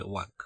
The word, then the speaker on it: walk: আচ্ছা, এখানে WALK, এটা ওয়াক কিন্তু উচ্চারণ হবে না, উচ্চারণ হবে ওয়াক।